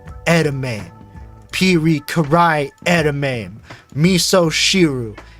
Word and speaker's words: edamame: someone that has zero exposure to Japanese would pronounce these things. So we got edamame, pirikarai edamame, misoshiru, ika no karikari age, shiso togarashi, age watarigani fried.